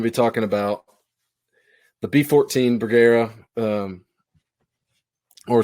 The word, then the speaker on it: Bergara: talking about the b14 burgera um or Hunter call calls it the bagara that's how you say it bagara uh the b14 HMR